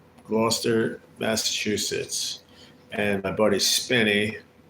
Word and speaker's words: Gloucester: It's spelled Glchester, but they call it Gloucester. Gloucester, Massachusetts.